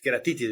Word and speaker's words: queratitis: Queratitis, ¿verdad? Así se pronuncia.